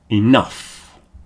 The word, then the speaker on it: enough: The next group is uff, rough, tough, enough.